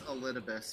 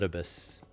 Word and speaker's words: Elidibus: It's Elidibus. You're pretty close. Elidibus. Yeah. Just put the emphasis on the wrong syllable.